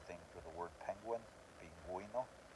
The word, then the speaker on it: pingüino: Same thing for the word penguin, pingüino, pinguino. So you're pronouncing the U.